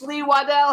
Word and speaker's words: Lee Waddell: Now we want to welcome to the Jimmy Star Show with Ron Russell, stuntman, actor, the original Ghostface Lee Waddell. Hello, and is that how I pronounce it?